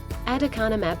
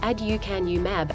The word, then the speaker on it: Aducanumab: Aducanumab, pronounced add-yoo-CAN-yoo-mab, aims to help clear harmful clumps of a protein called beta-amyloid from the brain.